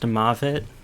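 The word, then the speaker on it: מוות: It's pronounced Mavet in Hebrew, but the root is Mot. The root is Mavet, but the letters used would be the same letters in the Ugaritic for Mot, because it's Mem, Vav, and Tav. And so you could pronounce it either way. In fact, actually, from that, it just is pronounced Moot.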